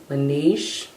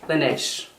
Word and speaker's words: Laneige: It looks like it might be pronounced Laneige. Laneige. I'm gonna look it up because I like to be correct when I'm talking about a brand. L-A-N. E-I-G-E. Laneige. Laneige. Laneige. That's how they're saying it.